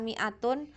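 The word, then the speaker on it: مائة: Ada polarisasi ketidaksamaan gender antara 100 ya menggunakan mi'atun atau mi'atun. Nah, diucapkannya ya mi'atun. Nah, tapi tulisannya ada yang mi'atun pendek, ada yang mi'atun ini panjang.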